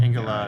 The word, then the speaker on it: Engolard: Is that how you say it? Ingolard. Ingolard. Yeah, yes.